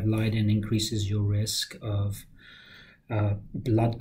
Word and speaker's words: Leiden: she had a V factor v is it Leiden mm-hmm factor v leiden so okay factor v